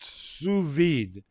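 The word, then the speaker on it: sous vide: it in my notes Hector's got it pronounced suid cooking in low temperature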